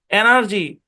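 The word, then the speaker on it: energy: এনার্জি, এনার্জি মানে কি শক্তি, খেয়াল করেন এখানে জি এর পরে ই আই ওয়াই আছে, এই কারণে জি এর উচ্চারণ কি কিসের মতো হচ্ছে, বর্গীয় জয়ের মতো হচ্ছে।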